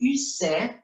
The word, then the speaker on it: Ussé: El castillo de Ussé, así se pronuncia en francés, es el castillo donde